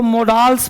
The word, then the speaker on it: modals: देखो बोर्ड पे, लोग इसको मोडाल्स पढ़ते हैं, ध्यान देना, मोडाल्स नहीं है, ये आ है, आ नहीं है, मोडल्स, मोडाल्स नहीं, क्या है? मोडल्स, डाल्स नहीं पढ़ना, मॉडल्स।